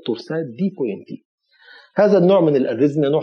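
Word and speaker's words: torsades de pointes: في ناس ينطقوها تورساد دي بوانس، في ناس ينطقوها تورساد دي بوا زي الفرنسويين كده، انما بقول لك الاستاذ الانجليزي ده انا سمعتها شخصيا منه كده تورساد دي بوينت تي.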